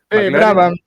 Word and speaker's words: Brabham: Quien había trabajado como mecánico en Brabham, supongo que se pronuncia. Brabham, se le dice.